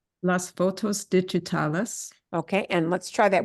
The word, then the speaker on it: digitales: Digitales, mejor, mucho mejor, see? Yeah, again, this is another one of those words your brain so wants to say digital, yeah.